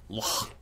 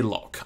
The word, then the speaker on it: loch: Most of us say loch. I've always said loch. But in this series I'm making an effort to integrate as much of the culture of the country we're focusing on as humanly possible. And in Scotland it's pronounced loch. I'm probably butchering it, but it's definitely better than loch.